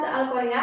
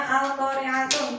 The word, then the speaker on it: Al-Qari'ah: Kalau kalian menemui tanda tak marbutah, contohnya ada pada surat Al-Qari'ah ayat pertama. Nah, ini kan ada Al-Qari'atun. Berarti kalian tidak boleh membacanya Al-Qari'atun, tetapi tak marbutahnya diganti dengan hak sukun. Berarti kalian harus membacanya. Al-Qari'ah.